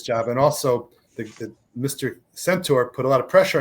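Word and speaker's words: Centor: Is it Cantor? Is that how you pronounce his name? Centaur, I'm sorry.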